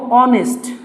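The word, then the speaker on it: honest: এখন দেখো অনেস্ট আছে এইচ হলো সাইলেন্ট অনুচ্চারিত, যেহেতু আমাদের ভাওয়েলের সাউন্ড আসছে সেক্ষেত্রে আমরা কি করব, এখানে অ্যান অনেস্ট ম্যান অ্যাবস্টেন্স him from corruption.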